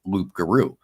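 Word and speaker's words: loup-garou: it was that tribe they were mispronouncing the French word of loop garu so when they would say it it would come out sounding like rugaru you know so that's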